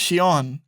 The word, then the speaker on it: Shion: Then one of the people that worked on Gravity Falls, their name is I think it's pronounced Shion. It's Shion.